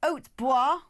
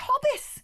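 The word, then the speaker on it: Hautbois: Postwick is pronounced Possick, and Haute Bois, or Haute Boys, I don't know how you'd say it, is pronounced Hobbis.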